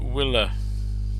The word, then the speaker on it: will have: love but will have we don't say will have there's too many unstressed are stressed syllables but will it willa even willa yeah will have eaten will